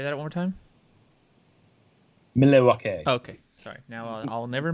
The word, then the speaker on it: Milwaukee: Pronounce Milwaukee, please. Oh, Thank you. I'm sorry. But no, say that one more time. Milwaukee.